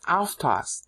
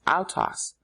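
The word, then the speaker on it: αὐτός: But by leaving it out, he gets to play the double entendre with autos. Autos. Autos is how Greeks say it should be pronounced, but it's really autos in Old Greek, Bible Greek.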